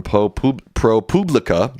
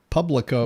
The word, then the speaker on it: ProPublica: A new investigation from ProPublica, which apparently is how you pronounce it. I think that's ridiculous, but apparently that's how you pronounce it. ProPublica.